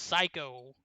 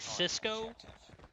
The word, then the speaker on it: Sicko: And I'm getting in chat, Sicko is actually pronounced Psycho. I was actually under the impression that it was going to be closer to like Cisco, since it's kind of spelled similarly, but obviously you guys know more than I do.